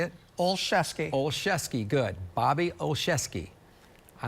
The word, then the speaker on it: Olszewski: Olszewski, good.